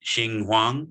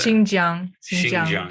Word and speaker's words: Xinjiang: backlash over statements about is it ching huang ching hang how do you pronounce that province that starts with an x i can't see it oh okay xinjiang was way off young mr donahue made